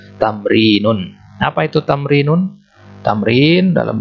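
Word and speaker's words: تمرين: Ini bacanya tamrinun.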